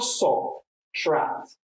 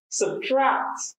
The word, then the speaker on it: subtract: It's not subtract. It's pronounced subtract. Subtract. And the stress in the second syllable because it's a verb.